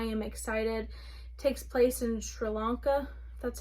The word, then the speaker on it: Sri Lanka: Takes place in Sri Lanka, that's how you say it.